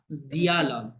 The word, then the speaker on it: dialogue: un interview, a dialogue, না ডায়ালগ না, দিয়ালগ, ডির পরে dia, আই oh আছে, e, হ্যাঁ রশি, dialogue, দিয়ালগ, রাইট, দিয়ালগ।